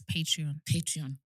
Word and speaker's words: Patreon: Yes, Patreon.